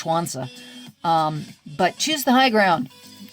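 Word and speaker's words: Sun Tzu: It's spelled S-U-N, I believe X-U or Z-U, but it's pronounced Schwanza.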